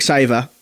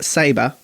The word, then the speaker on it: Sabre: is all good they had people like maverick saver the Maverick Sabre mother hug God Maverick Sabre thank you spell it out use your words that de kook's